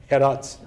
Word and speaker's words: هرات: هرات. آفرین. چقدرم خوب تلفظ می‌کنن.